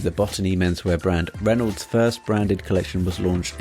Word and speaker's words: Renauld: I'm talking to the CEO and refound of Reynold sunglasses Gareth lellan Reynold can be found over at Reynold doc.